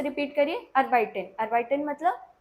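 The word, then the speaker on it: arbeiten: अर्बाइटन मतलब to work. फिर से रिपीट करिए, अर्बाइटन। अर्बाइटन मतलब टू वर्क। EI वाला साउंड है, जब भी कहीं पे EI रहेगा तो वहाँ पे I वाला साउंड रहेगा, और IE रहेगा वहाँ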